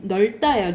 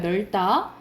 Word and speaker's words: 넓다: 리을 비읍 원칙은 뭐야? 리을로 발음돼요. 넓다예요. 넓다.